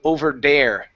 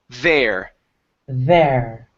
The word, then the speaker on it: there: in the word there you're pronouncing a d saying over dare with a D sound instead of over dare it's the there use your tongue and your teeth there there good good so um